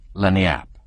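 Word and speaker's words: lagniappe: limber expressive handy word lanap as they pronounce it it's Spanish so they said we discovered it at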